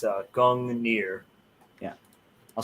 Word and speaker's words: Gungnir: the correct uh pronunciation oh yeah it's a gong near yeah i'll spell it out in the chat i'm over here